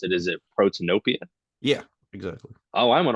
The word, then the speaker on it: Protanopia: I'm not exactly sure how to pronounce it. Is it Protanopia?